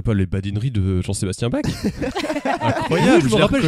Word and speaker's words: Bach: Bach. Oui, faut le prononcer comme ça.